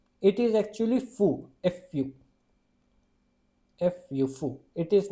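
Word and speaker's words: ふ: This is he now this this this is not who it is actually fu.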